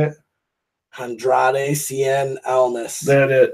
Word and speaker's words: Andrade Cien Almas: Andrade Cien Almas.